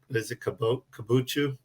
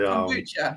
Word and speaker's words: kombucha: So there was one time when I was in North Carolina and Kabuchu? I think I'm pronouncing it incorrectly. Kabuchu. It's a fermented beverage that Kombucha. That's kombucha.